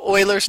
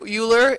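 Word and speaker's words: Euler: is from wolf from alpha it's actually called Oilers number and I know this word here uler it looks like uler like ber but uler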